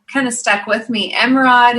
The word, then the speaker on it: Emeraude: of stuck with me Emma rod is also the French pronunciation of emerald which is my birthstone